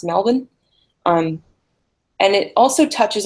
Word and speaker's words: Melbourne: melbourne cup or sorry Mel born here is actually pronounced Melvin um and it also